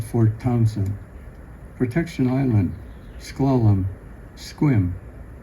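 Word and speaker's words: Sequim: Departure Kingston, Port Gamble, Hood Canal, Discovery Bay to Old Fort Townsen, Protection Island, Schlalom, Squim Rhymes with Swim.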